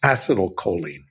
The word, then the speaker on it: acetylcholine: chemical in our brain called acetal choline or as some people pronounce it as acial choline this is a memory